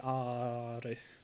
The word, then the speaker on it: Art: Yes, it's spelled art, but it's pronounced in the French way art.